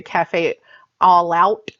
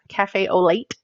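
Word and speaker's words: café au lait: We have Cafe au lait, which I always used to say cafe all out, late, cafe au lait, cafe au lait.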